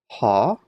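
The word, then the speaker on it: ὁ: Ein, ha, because of the rough breathing mark, you get the H sound, so ha, logos, chi, ha, logos, ein, pros, ton, theon, chi, theos, ein, ha, logos.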